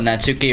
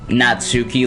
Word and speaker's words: Natsuki: myself do that also i don't get why people say natsuki like natsuki because i think that's the japanese way of pronouncing it or something it's like why the are these americans pronouncing it like natsuki it's natsuki oh hey kargasm there